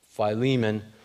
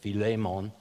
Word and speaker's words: Philemon: this morning colossians and philemon as it's generally pronounced but if you know anything about greek it's actually filemon and uh that's easily provable but uh not to throw anybody off we'll call it philemon just uh to not